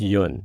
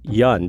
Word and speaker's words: Yun: Now, the proper pronunciation of my name in Korea is Yun. But I'm in southeastern Ohio, and no one could say it that way. And so it was just easy to say Yun because that's the way it was spelled. It rhymes with fun, and that's what we did.